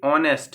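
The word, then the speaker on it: honest: तो इस ऑनेस्ट word में एच साइलेंट है। ठीक है? तो ये ऑनेस्ट है। एक्चुअली इसका प्रोनाउंसिएशन ओ से स्टार्ट हो रहा है।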